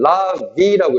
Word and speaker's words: larvae: 그러니까 전통적인 견해는 뭐에 대한 거냐면 수동적인 라비라고 읽어. 자, 라바가 단수, 라베가 복수야.